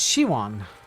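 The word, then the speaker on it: Siobhan: Siopan is pronounced Shiwan. This is what Draven was just talking about. Shiwan.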